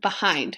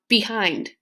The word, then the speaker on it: behind: just sounds unnatural okay another example behind okay so you stress hind okay that last syllable and behind okay if you stress the first syllable you're going to have behind okay and that just doesn't sound right okay so remember I